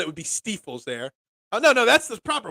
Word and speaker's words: Stiefel: Now, the way you spelled it would be Stiefels there. No, that's the proper way. That's the Stiefel spelled because E says I in German. I is pronounced E in German.